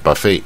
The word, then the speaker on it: buffet: 然有人念 buffet 啊，大家习惯念 buffet，它正统的是念 buffet 啊，buffet 啊，这个 t 不发音啊，buffet 第二